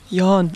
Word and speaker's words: Jan: Jan. Jan. Jan, okay. Jan, if you want to have the German pronunciation.